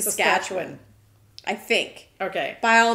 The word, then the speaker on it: Saskatchewan: And the one that I remember the most, other than the ones that we say, is a one from Saskatchewan. Saskatchewan.